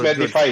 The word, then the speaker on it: Medifi: Saka it's pronounced Medify, sorry Ano siya? Parang rhymes with Medify.